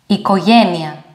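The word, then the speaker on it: οικογένεια: evos in english kind next diphthong is omicron yota omicron yota this is pronounced like this one e ikoyenya e next one is the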